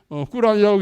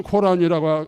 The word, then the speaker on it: 꾸란: 좋은 거고 유교도 꾸란도 꾸란이라고 있는 것은 코란이라고 아니고 꾸란이라고 있는 것은 모하마드가 이게 또 마호메트가 아니고 모하메트가 이제 그 알라께서는 아랍어로 발음해야 좋아하신답니다.